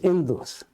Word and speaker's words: Indus: And then when this word is written in Greek, H is written, but it is not pronounced. So it is pronounced as Indus.